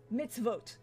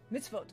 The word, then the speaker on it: mitzvot: and yell at God mitzvot mitzvot oh thank you I was putting the wrong emphasis on the wrong syllable but again my my